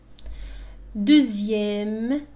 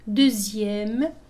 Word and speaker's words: deuxième: Deuxième. لاحظوا هنا X تنطق كأنها Z. Deuxième.